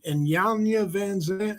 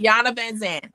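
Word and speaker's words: Iyanla Vanzant: I heard, I don't know how to pronounce her name. And Yanya Van Zandt.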